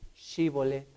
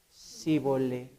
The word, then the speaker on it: Shibolet: Por su manera de hablar, Esto se convirtió en un factor tan importante, porque la manera de distinguir era di Shibolet. Pero ellos decían Sibolet. Era para ellos difícil pronunciar Shi.